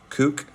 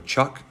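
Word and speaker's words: cuk: make instruments and um I bought a small cook which is a or Chuck is how it's pronounced which is a small Indonesian instrument and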